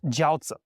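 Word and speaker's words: 交子: Dynasty uh and this is called jouza okay not the if you pronounce it wrong as The Dumpling okay it's different pronunciation initially these joua notes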